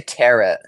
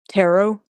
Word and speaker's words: tarot: hope it's not like I say turret Tarot yeah it's pronounced tarot but I say I